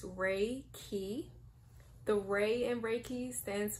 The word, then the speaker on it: Reiki: to get this out of the way it's pronounced Reiki the way and breaking stands for spiritually guided